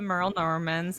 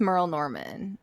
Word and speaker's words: Merle Norman: And she told us I think it's just Merle Norman. I think you're pulling the Dubuque thing. Like where people say like John Deere's or Aldi's.